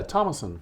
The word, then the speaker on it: Thomason: Yeah, Thomason. Thomason. Yeah, you got it right. I got it right. It's spelled Thomason, but we just leave the H as silent.